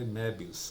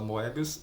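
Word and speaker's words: Moebius: Sim, se lê Mébios, apesar de todo mundo fala Moébios, a pronúncia correta é Mébios, que é um um artista francês bem de renome.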